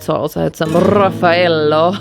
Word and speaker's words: Raffaello: And then I wasn't satisfied, so I also had some Raffaello. I don't know why I say it like that. And usually in Germany we say Raffaello.